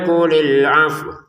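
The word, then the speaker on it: قُلِ الْعَفْوَ: Tapi kalau wawunya kita berhenti di sini, wawunya dibaca sukun, ya, tetap dibaca wawunya walaupun dibacanya sukun. Kulil afw gitu.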